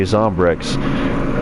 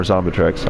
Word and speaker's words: Zombrex: would read it and I would say Zombrex. And I'd like tell like my ex-wife or wife at the time, like, I need to get some more Zombitrex. I would immediately mispronounce it after pronouncing it correctly.